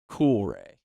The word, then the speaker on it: Coolray: GLE it's g l the name Coolray literally how it's spelled and how it sounds Coolray sounds like Ranch Doritos you know what I'm